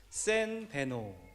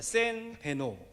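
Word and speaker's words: Сайн байна уу: 센 베노. 다시 한번 해보겠습니다. 센 베노. 여러분들 발음이 굉장히 좋으셔서 몽골 가셔서 사셔도 괜찮을 것 같습니다.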